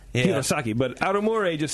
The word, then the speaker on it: Hirosaki: The prefecture's called Aomori, and the place I live is called Hirosaki. Hirosaki. Yeah, that's where. See, our that I can is. say. Yeah. Hirosaki, but Aomori just sounds like Italian.